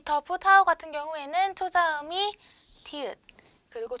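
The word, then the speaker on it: ฒ ผู้เฒ่า: 그 다음 밑에 자음 보시면 더푸타오, 더푸타오, 더푸타오. 평성, 이성으로 발음이 되고요.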